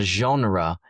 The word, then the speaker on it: genre: Let's go with the pronunciation of the word genres. Spotify said three music genres. And a genre is a type or a kind of art, music.